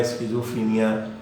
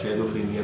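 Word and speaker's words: schizophrenia: وہ ہے اسکیزوفرینیا، جسے یہ تلفظ اس کا بدلتا رہتا ہے، اسکیزوفرینیا بھی کہا جاتا ہے، شیزوفرینیا بھی کہا جاتا ہے، اور اسکیزوفرینیا مختلف، کیونکہ یہ جرمن ورڈ ہے تو مختلف پروننسیشن اس کے رائج ہے۔ تو یہ پاگل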